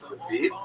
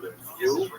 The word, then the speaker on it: Lviv: They're dominated by the city of Lviv, or Lviv, as it will be pronounced by people in Wichita.